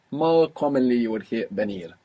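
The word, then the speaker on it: venir: commonly you would hear benir V like a soft B first let's say do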